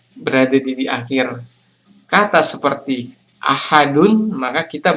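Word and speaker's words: أحد: atau Qalqalah kubra nah caranya adalah Ahad Jadi teman-teman huruf dalnya itu seakan-akan memantul pada saat kita membacanya jadi kita tidak boleh membaca ahad qulhuallahu ahad jadi itu kurang tepat Kalau mau yang tepat qulhuallahu Ahad Jadi huruf dalnya harus dibaca memantul Nah selanjutnya pengertian qalqala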